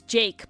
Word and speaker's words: Jvke: In the sense of, like, there's that one guy whose name is Jake, but it's spelled Jvke, and he made Golden Hour, which you might know.